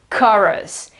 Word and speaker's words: chorus: It means that it's not ko, but it is ka. In fact, here it's written like a sort of an A. The colon here means that the vowel is longer, so it's ka, and R, schwa, S. Okay, chorus, chorus.